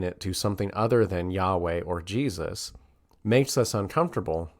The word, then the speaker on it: Yahweh: The Torah and Jewish tradition hold that God's name is something similar to what we pronounce in English the vowels Y-H-W-H, or as I made reference to earlier, Yahweh, which is what we think to be the correct pronunciation of the name of God.